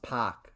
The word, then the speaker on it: Pak: Yeah, just so you know, it's pronounced Pak.